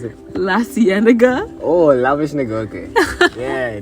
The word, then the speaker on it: La Cienega: How you pronounce it? La cienega.